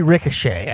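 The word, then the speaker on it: Risacher: Zachary Ricochet, I think. Something like that, yeah. I know it doesn't look like that's how it's pronounced, but I have heard people say it like that.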